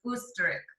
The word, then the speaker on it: Österreich: You pronounce it like a oos. Okay, so like ostrich, which is Austria in German, they have an O with the 2 dots, so it's Österreich.